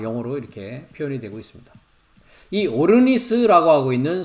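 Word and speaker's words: ὄρνις: 3,733번인데 발음은 오르니스라고 발음을 합니다.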